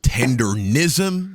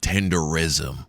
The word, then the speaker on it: Tendernism: I now know it's actually pronounced Tendernism, so yeah, just bear with me for a little while. But it's Tendernism, not Tenderism.